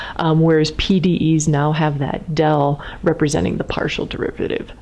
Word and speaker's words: del: And just because the people in this class won't have seen that funny D, that's called del. So you pronounce that del capital T, del little t.